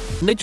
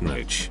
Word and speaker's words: niche: any bit of exercise nich is pronounced nich not nich I'm fine with pretty